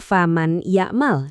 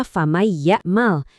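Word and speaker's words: فَمَن يَعْمَلْ: Jadi kita nggak baca faman ya'mal, dipisah gitu. Salah. Yang benar, suara nunnya lebur ke ya sambil didengungin. Jadinya famay ya'mal.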